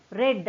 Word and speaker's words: read: ஆனால் இதை ப்ரொனவுன்ஸ் பண்ணும்போது ரெட் அப்படின்னு எப்படி இருக்கும்? சவுண்ட் வந்து ரெட் கலர் இருக்கே அதே மாதிரி சொல்லணும். ரெட் அப்படின்னு பாஸ்ட் டென்ஸில் சொல்லும்போது the spelling is the same but the pronunciation is different.